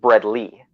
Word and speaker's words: Bredli: right as long as you don't call them bread I pythons which is something I've heard a lot of people call them and I've actually been told by Scott eiper that it should be pronounced bread Lee just based on how the nomenclature and taxonomy